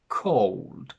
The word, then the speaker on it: cold: So we choose a more American version of it, and we say O, cold, sold, gold.